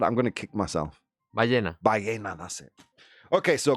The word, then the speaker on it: ballena: Ballena.